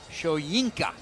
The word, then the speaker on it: Shoyinka: But it is Joe Tyron Shoyinka.